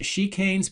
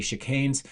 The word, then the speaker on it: chicanes: of viewers that uh tried to say that it's pronounced chicanes, but it's not. It's actually chicanes.